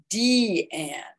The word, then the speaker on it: Diane: Her mother, Gertrude, chose her daughter's name, but she pronounced it D-Anne, and talent was really abundant in the Nemiroff family.